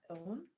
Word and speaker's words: own: We have brown, we have frown, we have gown, we have own. Which one is good? Good. Option D. Yes, I'm glad did not let the spellings deceive you. Okay, phone is the correct answer. Option D, phone.